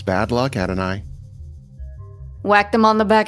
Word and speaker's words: Adonai: Someone in chat says it rhymes with atomize almost. It's like an I rhyme. Okay. Adonai.